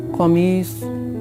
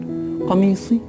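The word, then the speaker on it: قميص: Qamis. Again, a little bit difficult to pronounce. Qaf and Swad. Starting with Qaf, ending with Swad.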